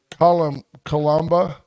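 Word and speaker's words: coloboma: It sounds like Cole Obama, but it's not. It's Columba.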